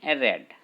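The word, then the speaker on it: read: यहाँ पे रीड को पढ़ लेंगे रेड, क्योंकि वर्ब का थर्ड फॉर्म यूज़ होता है। जो रीड का जो वर्ब थर्ड फॉर्म है, स्पेलिंग तो दोनों का क्या, स्पेलिंग तो सेम ही रहेगा, रीड रीड spelling same, but pronunciation कर लेंगे इसे रेड।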